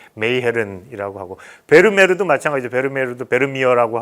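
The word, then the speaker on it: Meegeren: 옛날에는 그냥 영어식으로 해서 미허른이라고 그러는데 요즘 제대로 하면 이제 메이헤른이라고 하고, 베르메르도 마찬가지죠.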